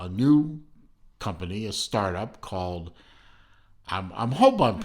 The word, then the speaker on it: Kaal: from a uh a new company a startup called i'm i'm hoping to pronounce this right uh call um k-a-a-l-col now that watch i'm sorry that